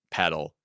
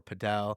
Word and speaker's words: padel: not the shits uh the second is I said paddle not padel well there's a big debate on whether it's called paddle or padel oh it's a debate